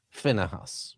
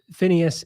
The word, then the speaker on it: Phinehas: Jordan, who is Phinehas or Pinchas? Yes, I do the Phineas pronunciation, which is also a bit of a how